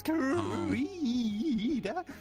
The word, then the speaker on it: Karita: That's actually how I pronounce his name accurately. It's Karita. It's very nice.